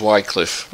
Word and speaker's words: Wycliffe: As we all know, my name's Wycliffe, and that's the correct pronunciation.